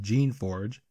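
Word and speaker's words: Geneforge: favorite series for last Jenna Forge I'm certain the name is pronounced Jean Forge but the name Jenna Forge rolls off the tongue better has perhaps one of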